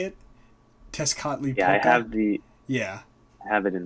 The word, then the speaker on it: Tezcatlipoca: The first one is the here I had the pronunciation up. The first one I'm pretty sure that's how you say it. Tezcatlipoca.